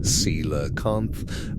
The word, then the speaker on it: coelacanth: The coelacanth, pronounced seelakant, belongs to a lineage of fish that first appeared in the fossil record approximately 400 million years ago.